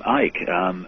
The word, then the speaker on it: Icke: They called me Icke. They called you Icke? Yeah. I mean, you don't pronounce the C.